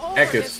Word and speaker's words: Eckes: I love the How do you pronounce his name? Eckes? Eckes.